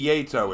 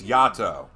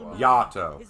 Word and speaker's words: Yato: and it wouldn't be yeto it's yato japanese pronunciation the a in japanese is not pronounced a it's ah yato sakura well provided all